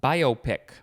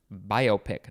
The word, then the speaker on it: biopic: get hung up uh biopic that's how it is pronounced biopic not biopic it is biopic b-i-o-p-i-c i think i'm the only one who wants to pronounce it the other way this is a noun